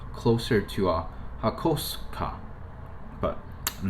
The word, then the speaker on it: Hakosuka: Like it's not Hakosuka as some people would do that. It's not, but it's not Hakosuka either. The SU still makes a sound, right?